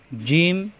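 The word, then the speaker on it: ج: দেখে হরফ চিনতে হবে এই হরফটা জিম জিহ্বার মাঝখান উপরে তালুতে সওয়াব দিয়ে উচ্চারণ করতে হবে জিম হা খ একই রকম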